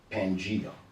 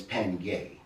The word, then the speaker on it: Pangaea: supercontinent, Pangaea, which is more often than not mispronounced Pangea, but it's Pangaea because Gay is the earth, Mother Earth.